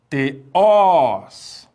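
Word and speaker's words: θεός: As oxítonas são aquelas que levam acento agudo na última sílaba. Exemplo, veja só a palavra teós.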